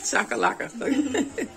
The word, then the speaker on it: chakalaka: Chakalaka.